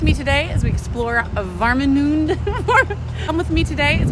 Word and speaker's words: Warnemünde: Come with me today as we explore Warnemünde. Come with me today as we explore Warnemünde, Germany. I think that's how you say it. Okay, so I clearly struggle with pronunciation on this one, but it's Warnemünde.